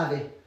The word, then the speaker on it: ave: peux dire aussi un ave. Ave Donc dans ce cas-là si le V il est posé entre deux voyelles, il se prononce V. Mais sinon il se prononce B.